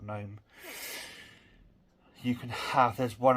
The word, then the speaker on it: GNOME: Yes, it's pronounced GNOME, not GNOME.